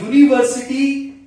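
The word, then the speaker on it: university: अब यूनिवर्सिटी यू से शुरू है, लेकिन इसमें ऊ का उच्चारण नहीं है, वॉवल का उच्चारण नहीं है। उच्चारण किसका है? ये का, यूनिवर्सिटी, वाई, यूनिवर्सिटी। ठीक है, तो इसमें क्योंकि उच्चारण ये का है जो वाई से शुरू होता है इंग्लिश में,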